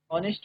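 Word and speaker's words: honest: H silent रहता है यहां पर। यह हो जाएगा ऑनेस्ट पर्सन।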